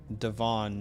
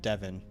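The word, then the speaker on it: De'Von: JT says Devon A-Chain is pronounced Devon, not Devin.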